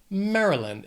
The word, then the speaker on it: Maryland: This state has 3 syllables. The stress is on that first syllable. Maryland. It's not Mary. You don't really hear that Y. It's just Maryland.